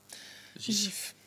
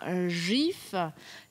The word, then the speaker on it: GIF: nous nous dit que pour lui et bien c'est un gif et pas un gif donc c'est un jet doux voilà et pourtant donc